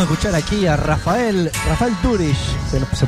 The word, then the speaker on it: Doorish: y acabamos de escuchar aquí a Rafael Rafael dur se pronuncia bien así exa teníamos algunas dudas Qué